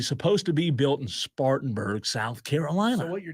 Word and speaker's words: Spartanburg: track do you know where Talladega was supposed to be bu right up the road in spanberg Spartanburg Bingo you said it right that's the correct answer it was supposed to